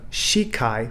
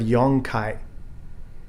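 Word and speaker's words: 四回: shidan we have yondan instead of shikai for four times we have yong kai instead of sichido for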